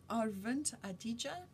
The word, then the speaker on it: Aravind Adiga: the white tiger by arent adija that's how it sounds like they say his name on the video where they gave him